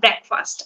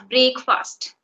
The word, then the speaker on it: breakfast: also you uh said breakfast I take my breakfast many people I have heard they use break fast they say it break and it is breakfast break break yeah so